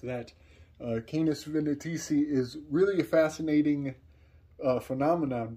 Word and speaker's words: Canis Venatici: Canis Venatici, which I had messed up that pronunciation in my last video, so allow me to correct that. Canis Venatici is really a fascinating phenomenon, because just when